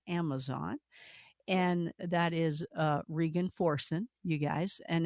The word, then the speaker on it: Regan: foren you guys and it looks like Reagan but it's rean and and I gotta keep making myself I had to phonetically spell it and write it down so I'd say rean and then the links